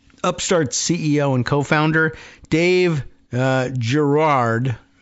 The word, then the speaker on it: Girard: Upstart's CEO and co-founder, Dave Girard, it's a very odd, but Frenchified spelling, but is it pronounced Girard maybe, or Girard? Giro, Giro, U-A-R-D, Girard, but so probably just Girard for anglicized speakers, participated in the U.S.